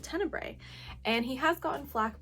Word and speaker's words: Tenebre: I finished Tenebre, which is the correct way to pronounce it. Tenebre.